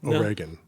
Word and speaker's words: Oregon: No, Oregon. Oregon. Yeah, that's how the locals say it.